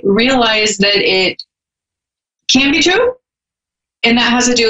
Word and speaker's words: tarot: is and a lot of people call them Tarot the correct pronunciation is true it's true someone even put a little bit